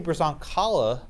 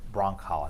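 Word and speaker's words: Brzonkala: Christy Brazoncala, or actually I think she's pronounced it Broncala, I think the Z is silent.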